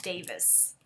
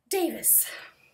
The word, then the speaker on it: Davies: a Kate Davis pattern I do believe you say Davis and even though it's written like Davies I think the names with the IES ending in Scotland in England I think that's how you pronounce them at least in Scotland you do I'm pretty sure Davis yes the car Beth